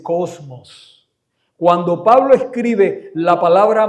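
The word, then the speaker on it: κόσμος: Mundo en el original griego en que se escribió el Nuevo Testamento se pronuncia cosmo o se dice cosmos.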